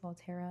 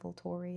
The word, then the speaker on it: Volterra: Volterra is what it was. Volterra not Vol Torri, however I said it before.